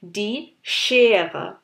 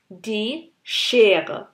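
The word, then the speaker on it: die Schere: জার্মানে এস সি এইচ যখন একসাথে থাকে আমরা অনেকটা ইংলিশের সি এইচ এর মতো প্রোনাউন্স করি, তবে আরেকটু ভর দিয়ে। যেমন এখানে আমাদের এক্সাম্পল আছে দ্য সিজার্স বা জার্মানে যেটাকে বলে ডি শের, ডি শের।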